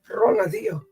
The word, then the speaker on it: Ronaldinho: Ronaldinho? Yeah. Yep. You said it right. That's good. Ronaldinho. It's Portuguese, though.